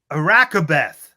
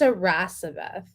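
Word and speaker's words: Iracebeth: I don't think you're saying it correctly. Well, it sounds Probably like you're not. saying. I think it's a Rasabeth. Arasabeth? Yeah. Arakabeth? Yeah, Oh well, yeah, it's not a hard C.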